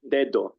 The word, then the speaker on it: dedo: En el primer dedo he pronunciado las 2 Ds de forma igual, pero los españoles no las pronuncian igual en esta palabra. Un español nativo, la primera D la pronuncia usando el sonido de D.